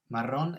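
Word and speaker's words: marrón: agrees meaning brown and we've got that nice rolling r in maron maron ends in a consonant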